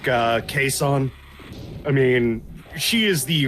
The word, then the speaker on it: Kason: Yeah, Kason. Kason. Yeah, like Jason, but Yeah. only with a K.